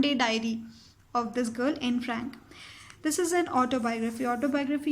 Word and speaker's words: Anne Frank: Please don't pronounce it as Anne Frank, it's Anne Frank.